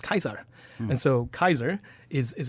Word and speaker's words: Caesar: It's pronounced Kaiser.